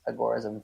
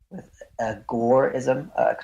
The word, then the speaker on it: agorism: So when Samuel Edward Konkin was talking about agorism, he typically pronounces it the same way that I do, which is with agorism, kind of a focus on the gore section.